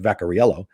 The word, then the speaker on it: Vaccarello: I think honestly, Greg Vaccarello, which is pronounced Vacariello, lives in Vegas, great comic from New York.